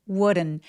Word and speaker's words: wouldn't: 여기서 wouldn't 발음할 때 우든이라고 디귿 발음처럼 너무 열심히 발음하지 않고요.이 d는 약간 굴러가는 느낌으로 발음해요. 그래서 would wouldn't 이렇게 리을 비슷하게 소리 내시면 됩니다.